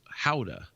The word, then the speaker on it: Gouda: know like cow milk gouda as opposed to goat milk but regardless in the in the us it's pronounced gouda and to the dutch it's howda really so it is